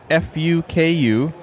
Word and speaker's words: Fuku: from a place called f-u-k-u i think they would pronounce it fuku that was that was